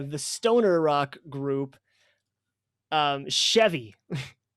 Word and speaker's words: Sheavy: stoner rock group um chevy is that how you pronounce it chevy how you pronounce it yeah all right i was thinking that that's a very clever name it's very very cool it's like the car but it's not that's